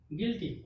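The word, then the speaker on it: guilty: जी के बाद यू आया तो यू क्या हो गया, साइलेंट, यानी कि GILTY, गिल्टी। गिल्टी मीन्स क्या था, दोष या कसूरवार।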